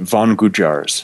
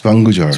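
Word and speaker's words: Van Gujjar: The tribe, they're called Vangujars. Vangujars. So it's two separate words. Van is spelled like a van you would drive around in, and Gujar is the second part of that.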